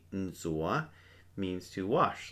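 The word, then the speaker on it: ntxuav: n t x u a v "nzoa" means to wash like to wash with you would wash your hands.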